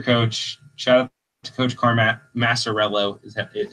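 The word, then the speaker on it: Maciariello: Shout out to Coach Massarello is how I've been told it's pronounced.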